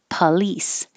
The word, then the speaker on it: police: with an s place this one is two syllables so you have to have a pa before the lease police if you go too quickly police please it'll sound like more like number 26 please so make